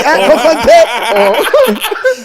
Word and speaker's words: Kokonte: Say it properly, Kukonte!